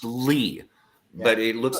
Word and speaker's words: Lea: uh Broadway music composer her last name is spelled l EA it's actually pronounced Lee but it looks like